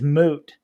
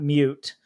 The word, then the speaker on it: moot: rules to to leighton the word is moot not mute oh i'm drinking regardless